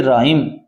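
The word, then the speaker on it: rhyme: राइम। इसमें H silent है।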